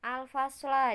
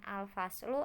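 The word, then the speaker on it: الفصلَ: Al-fasla di situ termasuk maf'ul bi atau objek, yang mana tanda baca maf'ul bi ketika mufrad adalah fathah, maka di situ dibacanya al-fasla, bukan al-faslu ataupun al-fasli.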